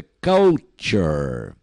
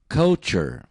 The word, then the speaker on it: culture: Cultura em inglês é Culture o primeiro u tem som de a e aquele tu tem som de tch né fica no final cure ou se repita Culture Culture regular se escreve igualzinho